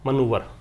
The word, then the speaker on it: manoeuvre: इसका मतलब ट्रिक होता है मनूवर, इसको मनूवर बोलते हैं, MANOEUVRE, मनूवर नाउन है।